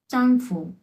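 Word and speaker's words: 丈夫: প্রথমটা আসছে কি চাংফু। চাংফু। হ্যাঁ চাংফু, এরকম। এটা কিন্তু চয়ের উচ্চারণ, এই যে চাং চাং, চাংফু।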